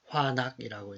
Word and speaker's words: FANUC: 시스템을 운영하기 위해서 요 파낙이라는 기업, 이제 FANUC, 이제 일본어로 발음을 하면 화낙이라고 이제 발음이 되니까 이제 화낙 필드 시스템이라고 얘기하는데, 그래서 요 엣지와 포그와 클라우드 세 개로 이제 운영이 돼 있어요.